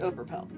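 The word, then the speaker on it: Overpelt: when you say my name. It's over pelt. So, it's not like, it's not like all the way.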